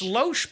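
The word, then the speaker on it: Lohse: It's Loesch, but the H is before the S.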